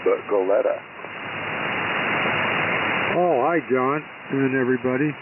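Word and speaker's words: Goleta: uh tell us about what's happening in not golita but goletta oh hi John and everybody k6r C everything's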